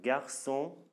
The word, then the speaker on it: garçon: Et ça se prononce toujours, ça se lit toujours comme S. Comme la langue que vous apprenez, comme la langue que vous adorez, j'espère. Voilà, français. Français. Un garçon.